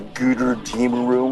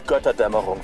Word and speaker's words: Götterdämmerung: He doesn't know what he's talking about with the Guter Dämmerung, or however he pronounces it. So first of all, it's Götterdämmerung, verdammt normal. Second of all, the way he pronounces it, Guter Dämmerung, he's actually saying the twilight of the wholesale goods.